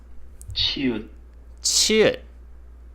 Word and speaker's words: 치읓: 치읓. This letter sounds like CH in English.